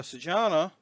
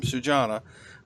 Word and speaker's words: Sujana: So Sujana, which again that's how they told me they pronounce their name, Sujana, is playing highly active,